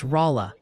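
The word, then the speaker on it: Rolla: Oh, and a crucial memo from the pronunciation police. Oh boy. It's Rala, Missouri.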